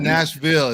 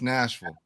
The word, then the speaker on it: Nashville: It's not Nashville. It's Nashville. Nashville. You can't pronounce the Ville.